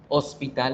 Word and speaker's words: hospital: Pero resulta que en inglés a veces suena y el sonido de la H es el sonido de la J. Hospital en inglés se dice hospital, hospital.